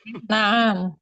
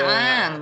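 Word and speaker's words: نعم: Naam. Naam. Ya. Naam. Hadza qamis. Nah, perhatikan panjang pendeknya, jangan dibacanya na'am. Ya, Naam. hati-hati. Kalau Qamis.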